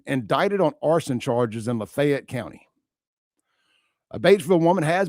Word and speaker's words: Lafayette: Lafayette, not Fayette. Lafayette County. Or is it Lafayette or Lafayette? For me, it's Lafayette. But I think they pronounce it Lafayette up there.